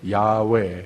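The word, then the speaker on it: 야훼: 알게 할지어다 라고 그랬습니다 이 여호와 라고 하는 이름을 반복하는데 야외 이것이 원래 맞는 발음입니다 홀로 자존 하시는 분입니다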